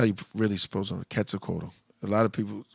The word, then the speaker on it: Quetzalcoatl: some interesting stuff about um uh katsukoto well quetzalcoatl the original that's how you really suppose quetzalcoatl a lot of people pronounce the q and that's like saying that